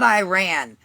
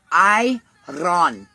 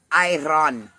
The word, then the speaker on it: Iran: bombing of Iran and it's not Iran. For all of you people who can't produce pronounce it, it's Iron. Iran. Okay. Otherwise known as it it is an Arabic word. Iron not Iran.